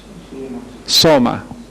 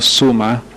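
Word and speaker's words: σῶμα: Soma. No suma. Y no sulma. Soma.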